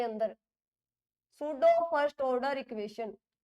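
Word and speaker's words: pseudo: इसकी डेफिनेशन पूछ लेता बेटा बोर्ड के पेपर के अंदर, सूडो फर्स्ट ऑर्डर इक्वेशन या reaction, सूडो first order reaction. तो देखिए क्या है इसके अंदर, पहले तो इसके अंदर पी साइलेंट है भाई, इसको सूडो इसलिए बोलते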